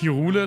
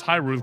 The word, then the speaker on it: Hyrule: It's pronounced Hirule? No, it's not. Even though when I was a child, I also pronounced it like that. Which is funny because I'm pretty sure we pronounced Ganon correctly, but we didn't pronounce Hyrule correctly. Which is the exact opposite way that the German dub of Breath of the Wild did it. They pronounce Hyrule correctly, but not Ganon, which is weird.